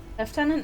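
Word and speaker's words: lieutenant: need more yellow flowers so left tenant is just racist racist old Englishman refusing to use a French word because the king at the time wanted to copy the French rankings for oh really that's interesting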